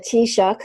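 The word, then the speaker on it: Taoiseach: Irish Prime Minister no we called him the tea shock it's Irish word so you might not know how to pronounce it Prime Minister and he's standing up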